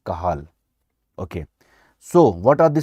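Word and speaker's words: Cajal: wave interstitial cell of kajal or kahal or kajal whatever you can say these slow waves are generated by interstitial cell of kahal or you can say kajal whatever you can say but correct pronunciation is kahal okay so what are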